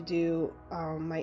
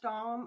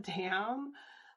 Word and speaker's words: Dom: And I'm pretty sure it's pronounced Dom. I think it's the maker's last name, not dam. Like I was thinking like a beaver dam or like a man-made dam.